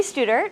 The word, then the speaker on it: Studer: everyone my name is Stewart rhymes with tutor and I'm the assistant